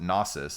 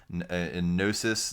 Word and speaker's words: Gnosis: heard people pronounce it gnosis and it's like a cheese grater on me it's gnosis like as a gnostic gnosis the greek word for knowledge and and wisdom and